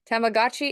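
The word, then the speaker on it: Tamagotchi: Sharon so you just tell me how to pronounce it is it tamagachi yep Y tamagachi is a mixture of the English word for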